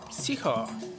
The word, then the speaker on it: psycho: The guy's a psycho. Psycho maybe, psycho. You don't pronounce P, isn't it?